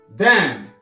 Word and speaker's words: damn: Le N ne se prononce pas. Damn.